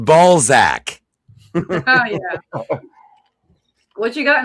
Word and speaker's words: Balzac: That is Elvirus at the bottom, and that's the Ayatollah Flat Coca-Cola right there, the ball sack of Leonard Nimoy. It's pronounced Balzac.